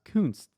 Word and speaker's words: Kuntz: A lot of the comments in the chat, or a lot of the comments under this video, were correcting that his name is actually pronounced Kunst.